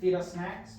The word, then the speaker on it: Feedussnacks: Feedussnacks. Yep. That's literally not fetus, but fetus. Feed us. Feed us. Yeah. If you say it fast, you're saying it right.